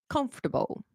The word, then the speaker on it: comfortable: okay so this one we say vegetable vegetable comfortable comfortable definitely definitely okay so uh oh sorry